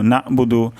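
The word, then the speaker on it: نَعْبُدُ: আমরা আগেও শিখেছি যে আইনের উচ্চারণ গলার মাঝখান থেকে হয় তো এখানে উচ্চারণটি হবে নাবুদু তো অধিকাংশ ক্ষেত্রে এটার উচ্চারণ নাবুদু নাবুদু অথবা নাবুদু হয়ে যেতে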